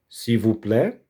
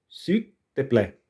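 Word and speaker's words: s'il vous plaît: Si vuplé ou si te plé, sil. Ó, esse il no final do francês ou no meio da da algumas palavras deve ser pronunciado com a língua tocando eh com a língua colocada no céu da boca, como no espanhol.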